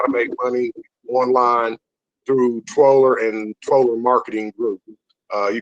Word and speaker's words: Twooler: It's Twoler. It's actually however you want to pronounce it. You could be Tooler or Twoler. I call it Twoler.